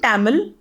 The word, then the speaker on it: Tamil: Then he takes a video of him and in Tamil, I still have that video. In Tamil or Tamil, the right pronunciation, he asks my husband doesn't know Tamil, okay?